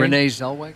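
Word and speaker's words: Renée Zellweger: Renee Zellweger.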